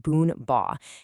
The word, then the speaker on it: Bún bò: What exactly is boonbore? And yeah, it's pronounced boonba and what makes it so, so special. At its heart, boonboa is this really robust noodle soup.